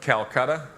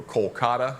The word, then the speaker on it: Kolkata: flew back down the calcutta or kolkata it's pronounced now all the way back